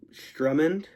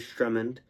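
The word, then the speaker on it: Sturmhond: sorry the privateeer um Strummond I think. S T R U M M A N D. So I pronounced that as Strumand.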